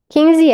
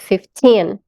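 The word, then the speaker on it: fifteen: 15 é 15, 15. Então, esse tin, pronuncia ele com mais força, tá?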